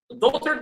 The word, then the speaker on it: daughter: So, daughter, this is how we write it. It has a lot of silent letters like the G, like the H, like the U, for example. All of these are silent.